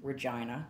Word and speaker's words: Regina: And I had shot, that interior of the house is in Regina, the town that rhymes with fun.